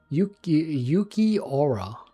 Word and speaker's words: Yuki Aura: Yuki Aura. You say it like that. Okay, facts. Oh, that's easier to remember. Yeah, like I think of Aura.